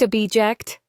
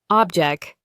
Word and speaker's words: object: Object. Object.